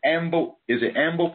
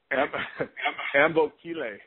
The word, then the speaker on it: Ambokile: Is it Amble? How do you say Amble? Ambokile. Ambokile. Wow.